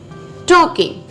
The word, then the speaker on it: talking: So next word is talking. T-A-L-K-I-N-G, talking. L is silent here, right?